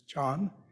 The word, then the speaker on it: Chan: know about Zen but Zen is simply the Japanese way of pronouncing the character that in Chinese is John and of course Zen